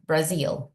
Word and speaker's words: Brazil: Recuerda, muy importante pronunciar la Z como Z, Brazil.